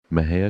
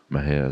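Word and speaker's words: Mexia: theater 923 East Main Maha Texas Maha is spelled m x i a our ZIP 7666 M&J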